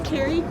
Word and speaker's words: Keri: Carrie. Can I spell Can I spell that? Sure. It's Carrie.